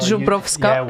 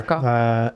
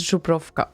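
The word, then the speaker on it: Żubrówka: know, we are drinking Zubrovka. Zubrovka. And we Not are Zubrovska, whatever. Zubrovka. And we are using proper coasters for them. It is important how it's called. It's Zubrovka, okay?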